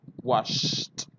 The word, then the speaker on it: washed: The last sound is sh, right? And look, the sound sh is here. So the pronunciation is washed, washed.